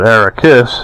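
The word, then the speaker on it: Arrakis: on it was uh the pronunciation on the Iron Maiden song was you know they call it ericus and and of course in Dune it's a rockus one planet and uh yeah what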